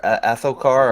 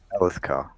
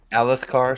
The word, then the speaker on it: Alethkar: Okay, Alethkar or Athokar, or however you want to pronounce it. Alethkar. Alethkar, sorry, That's the one.